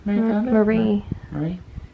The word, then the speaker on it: Marie: Mary. Isn't that her name? Mary Kondo? Marie.